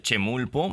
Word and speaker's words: Chemulpo: Oye, nos costó trabajo a Viridiana y a mí eh pues pronunciarlo de Chemulpo. ¿Esa esquina, ¿cuál es? ¿Estoy bien o o lo escribí mal? No, estás bastante bien.